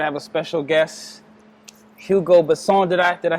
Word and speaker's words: Hugo Besson: I have a special guest, Hugo Besson.